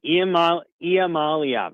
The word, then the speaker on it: Iamaleava: And if you kept UCLA, Nico Iamaleava, I think that's how you say it. Yeah, I think so. Yeah, you got it. Iamaleava. Iamaliava as what I'm got. I'm sorry. Iamaliava. There you go.